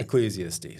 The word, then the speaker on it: Ecclesiastes: Ecclesiastes. How do you say it? Ecclesiastes.